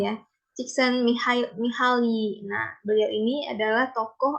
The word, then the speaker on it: Csikszentmihalyi: Nah, definisi dari flow itu sendiri, yang punya teori ini adalah namanya itu, saya juga susah nih nyebutnya, gimana cara bacanya. Csikszentmihalyi ya. Csikszentmihalyi.